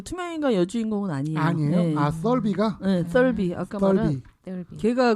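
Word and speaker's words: Thirlby: 썰비. 아까 말한 걔가 그 투명 인간으로 나와. 번데기 발음 썰비.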